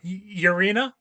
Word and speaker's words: Urena: Urena.